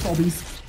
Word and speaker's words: Obie: be confused with Roblox obies because I've heard I've heard carus pronounce his name Obby before it is very much Obie yeah Obie there we